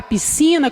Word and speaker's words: piscina: a palavra piscina como exemplo e na palavra piscina quando nós pronunciamos esse FC a gente só ouvir o